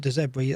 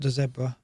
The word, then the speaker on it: De Zerbi: Was it De Zerbi? That's how you pronounce it. Is that how you pronounce it? De Zerbi. De Zerbi. Not De Zebra. Not De Zebedee.